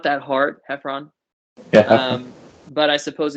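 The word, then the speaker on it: Heffron: pronouncing it or they act like they can't pronounce it a lot of people will say uh is it um heron herron heron drive ever haven't it's just like it's not that hard hephron yeah um but i suppose if you haven't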